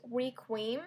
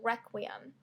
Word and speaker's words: Requiem: So it took me a good amount of time to know how to pronounce Requiem. I thought it was Requiem, a good amount of time, which is embarrassing because everybody seems to know that it's Requiem.